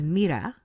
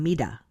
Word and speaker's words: Mira: But when I roll my R's, they think I'm pronouncing it like a D. Like, so Yes. my youngest daughter's name is Mira, and Hmm. but everybody thinks I'm saying Mida.